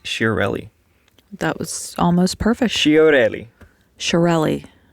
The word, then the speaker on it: Chiarelli: that was almost perfect shiorelli shirelli say it with me showrelli sharrelli shirelle there you go shirelli shirelli man what is that